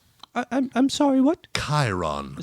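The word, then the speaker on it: Chairon: Chiron. Spell it. C H A I R O N. C H A I R O N. Like chair on. Like chair on except the ch makes that sound.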